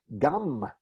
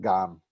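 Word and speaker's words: גַּם: Gum means also, right? Not gum like the kind you chew, and not gam, but gam.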